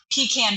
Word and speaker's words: pecan: this day we continue to be known for pecan based products so that was can I can